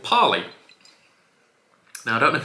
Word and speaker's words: Parley: I'm going to assume it's pronounced like parsley, but without the S, so Parley.